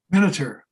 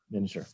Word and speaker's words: Miniter: Miniter. Miniter, yeah. Or that's how I say it. Maybe some others say it differently.